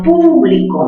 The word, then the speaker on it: público: Al público, mayor fuerza ¿dónde? Mayor fuerza en pu.